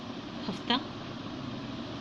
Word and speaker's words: ہفتہ: اچھا، فارسی کے الفاظ کے آخر میں ہے ہوتی ہے، گول ہے ہوتی ہے. جب اصل لفظ پر اضافہ ہوتا ہے تو اسے تلفظ زبر کا سا ہوتا ہے، یعنی اس کا آواز ہا کی نہیں آتی ہے بلکہ زبر کی آواز ہو جاتی ہے، جیسے ہفتہ، روزہ، مردہ وغیرہ، ٹھیک ہے.